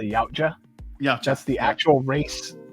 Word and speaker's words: Yautja: i'm pronouncing it wrong i believe it's pronounced the yautja yeah just the actual